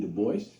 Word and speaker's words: Du Bois: david levering lewis w.e.b du bois yes he always insisted on that pronunciation uh he did not like the gaelic pronunciation though in his antecedence